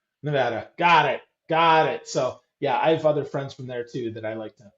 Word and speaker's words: Nevada: Now, listen, this is why we held up our vote count releasing that because all the newscasters kept saying Nevada, you know, and yeah, it's Nevada. Nevada.